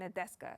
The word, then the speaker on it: Nadeska: But Kendrick said in his interview with Ebro on Apple Music and Nadeska, is that how you pronounce her name?